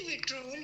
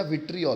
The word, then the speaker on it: विट्रियोल: विट्रियोल होता है कि विट्रोल होता है? बेटा विट्रियोल होता है, जहाँ तक स्पेलिंग है VIVTRIOL।